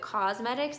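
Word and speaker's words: Causemetics: It's spelled Thrive Cosmetics, like C-A-U-S-E.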